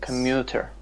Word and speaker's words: commuter: Commuter.